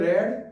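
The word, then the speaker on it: read: पढ़ने में first form को हमेशा रीड पढ़ते हैं और सेकंड और थर्ड फॉर्म को रेड पढ़ते हैं, स्पेलिंग तो सेम ही होती है।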